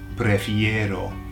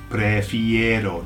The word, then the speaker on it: prefiero: I'll say it, prefiero, prefiero. Did you get the ero on the end?